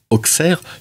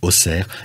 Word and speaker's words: Auxerre: er mais en réalité on devrait plutôt le prononcer oxer vu qu'il y a un X aujourd'hui et